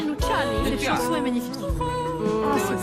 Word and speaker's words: Luciani: C'était avec l'accent. Mais moi, je le prononce en italien, Luciani.